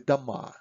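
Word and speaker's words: дома: with the ration o if o in a word is not under stress we pronounce it as a kind of ah so we don't say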